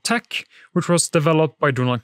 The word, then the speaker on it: TeX: by usage not fiat tech is usually pronounced tech making lottech and latex the logical choices but language is not always logical so lay text is also possible you cannot separate the